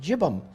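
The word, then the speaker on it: yibbum: said uh looks like yibam y-i-b-b-u-m but it's pronounced jibim in judaism and it's become a very rare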